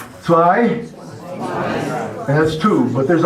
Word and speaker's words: zwei: Zwei, and that's two. But there's also some people, as I was telling you there a while ago, and Kent told you, there's some people pronounce it two.